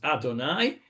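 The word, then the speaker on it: אדני: I think it's when you use Shem u'malchut, as we say, when you use the terms Yud Ke Vav Ke, which we pronounce as Adonai, and then you use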